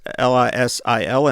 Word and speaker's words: Liesel: Now, one of the Liesel, Liesel, I think is her name, is how you pronounce it. It's Lisil, and I had to spell something.